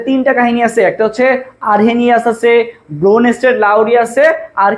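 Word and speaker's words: Arrhenius: সো আরহেনিয়াস, হানি কথাটা আছে, দেখো আরহেনিয়াস, আরহেনিয়াস এখানে হেনি মানে পানি কথাটা আছে।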